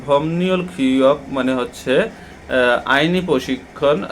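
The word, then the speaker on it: 법률: এখানে বলা হচ্ছে যে ভমনিউল ভমনিউল খিয়ক মানে হচ্ছে আইনি প্রশিক্ষণ এখানে আমরা ভমনিউ কেন উচ্চারণ করছি এর উচ্চারণটা একটু আমরা দেখি যদি বিপের পরে রিয়ল আসে এটা নিয়নের মত উচ্চারণ হয় আর এই নিয়নের মত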